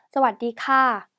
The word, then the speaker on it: สวัสดีค่ะ: สวัสดีค่ะ สวัสดีค่ะ สวัสดีค่ะ 이렇게 발음해 주시면 돼요.